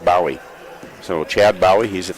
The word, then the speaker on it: Bowie: I guess it's Bowie. It's spelled Bowie, but he says it's pronounced Bowie.